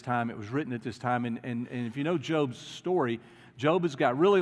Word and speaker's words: Job: called the book of Job if you're looking for a job there's a book in there when it's actually job yeah okay but it's spelled the same way and and the book